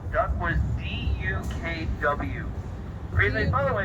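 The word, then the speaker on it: DUKW: There are 2 powered axles in the back of the truck, so D-U-K-W duck-wa, as everyone used to pronounce it.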